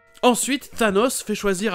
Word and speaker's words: Thanos: Rien de particulier, mais ça aurait pu se prononcer de plein de façons différentes. Thanos, Thanos, mais c'est bien A et O. Thanos.